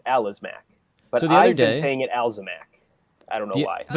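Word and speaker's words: Alazmec: tross aliens video uh the it's the alazmac not the alzamac oh the the guys with the possessive locals yeah it's the alice according to who according to anybody who can read well i know but pronunciations and star wars can always go like anyway i mean if it's a l a z a l oh a l a z m e c it's alas mac but the other day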